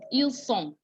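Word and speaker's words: ils sont: heard me pronounce it il song double s gives you s sound because it's double s so the single s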